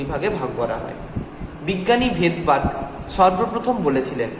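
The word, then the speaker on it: Svedberg: মানে এই এসটা থাকে silent, this S always remain silent, ওকে? তাহলে এসটা সবসময় কিন্তু সাইলেন্ট অবস্থান করে। তাই আমরা যখন বাংলা উচ্চারণ করি বলি ভেদবার্গ, কিন্তু যখন ইংরেজিতে লিখি তখন লিখি এস।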